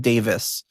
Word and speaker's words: Davies: Rod Davies or Davis, I always I don't know. I know the guys from the Kinks are supposed to be pronounced Davis.